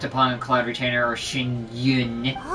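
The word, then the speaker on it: Xianyun: I didn't even know how to pronounce that cuz I'm not good at pronouncing the X sound of any name. Shinyun.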